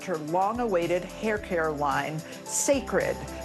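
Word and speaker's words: Cécred: And Beyonce has officially announced her long-awaited hair care line, Sacred. It's spelled C-E-C-R-E-D, but pronounced Sacred.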